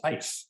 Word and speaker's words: AIS: She's a member of the Association of Italian Sommeliers, which I love the name of that because it's AIS, which in Italian is pronounced as ice.